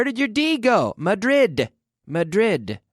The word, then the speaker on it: Madrid: mother e where did you dig Oh Madrid Madrid right we have to pronounce the last syllable and I heard I